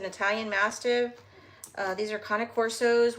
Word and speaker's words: cane corso: Uh these are conic corsos which is spelled ca like cane candy cane uh cane corso.